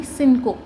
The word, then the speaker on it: cinco: तो हमने अभी भी पढ़ा है, जब CI आ जाता है तो उसकी प्रोनाउंसिएशन होती है सी, फिर उसके बाद N है तो सिन, एंड CO जब भी साथ में आता है तो उसको हम करते हैं को। तो इस वर्ड की प्रोनाउंसिएशन होगी सिनको।